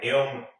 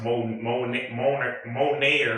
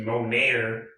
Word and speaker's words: Moner: her name, Isabella Moner, which is spelled Moner, which is pronounced like that, Moner, but it looks like Moner, like Moaner. That's what it sounds. That's what it looks like it would be pronounced like, but there's an accent mark on there, and it's actually pronounced Moner. Excuse me, Moner, like French almost.